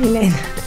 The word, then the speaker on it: Hélène: Je prononce bien, oui, Hélène.